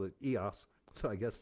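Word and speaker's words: EōS: hot tub called it EOS so I guess they don't pronounce eoos it's EOS I joined that Nationwide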